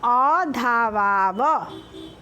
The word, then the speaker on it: अधावाव: आवां धावावः, आवाम अधावाव। ठीक है, अधावाव उच्चारण सही करिएगा तब स्पेलिंग भी सही होगा।